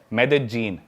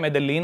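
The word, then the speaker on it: Medellín: उसकी एक सिटी है मेदजीन। स्पेलिंग में उसमें डबल एल आता है। मेदलीन होता है। लेकिन कोलंबियन स्पेनिश में ल को ज बोलते हैं।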